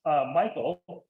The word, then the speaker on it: Michel: So my last name is pronounced Michael, although it's spelled exactly the same way as Hayden's last name.